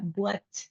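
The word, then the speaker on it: boîte: Para las latas y las cajas vamos a tener la palabra buat.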